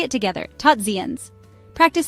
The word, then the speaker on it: tot ziens: In Dutch, tot ziens means, well, goodbye. Tot sounds like the English word tot. Ziens rhymes with beans. Say it together, tot ziens.